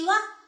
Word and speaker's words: は: as a particle, we pronounce this character as wa. But you write like ha. So, 私は Hitomi です。